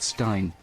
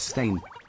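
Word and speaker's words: Berenstain: It's not Stein, it's Stain. It's the Baronstein Bears.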